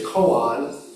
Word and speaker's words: koan: So in Japanese it's koan, K-O-A-N, but in Korean it's kongan, K-O-N-G-A-N. Same thing.